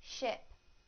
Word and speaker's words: ship: the e sound in the word sheep sheep sheep now the I sound in the word ship ship ship now I will use